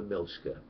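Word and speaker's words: Miljacka: Okay, it is near the River Milchka, which is spelled Miljagger, and basically the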